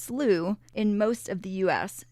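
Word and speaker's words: slough: h it is pronounced slooh in most of the US sometimes pronounced slow in New England and is the preferred British pronunciation we encourage you to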